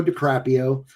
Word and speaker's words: DiCaprio: Uh, so it had it had, uh, Leonardo Caprio. Leonardo DiCaprio. Um, and, uh, that is not how you pronounce that.